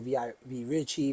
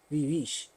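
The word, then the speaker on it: Vie Riche: So everybody says V Richie, Vi Rich, Vi Richie. The real the way you pronounce it is Vivish. It's French. Yeah. Vivish. It means rich life. Vivish. Vivish. Okay. But we New York niggas. So I say V Rich. Gotcha. It's VIERICHE. You don't pronounce the E in rich, Okay.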